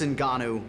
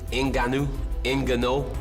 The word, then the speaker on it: Ngannou: Coincidentally, just 2 months prior to Tyson winning that title, Francis Ngannou was born.